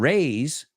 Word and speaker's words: raise: And the other one, raise, extendemos la A un poco y es sonido Z.